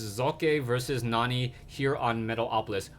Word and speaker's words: Socke: to pronounce his name he says that the e is a hard e and the S is more closer to an English Z so it's zok versus Nani here on